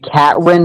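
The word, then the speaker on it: Katyń: It's the Catwin Massacre. Yeah, something like it's that. Like cat and then YN.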